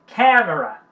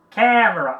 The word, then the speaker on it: camera: Camera, camera, ó a sílaba tônica, camera, camera, ok?